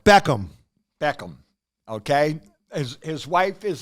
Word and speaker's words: Beckham: mini movie reviews all right Bend It Like Beckman okay Beckham wait wait how do you say his name Beckham Beckham Beckham okay his wife is in the the